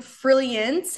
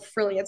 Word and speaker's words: Frilliance: right freance it's like frilliance it's like if you pronounce it like Brilliance like Brilliance but with an F so like frilliance it's hard to pronounce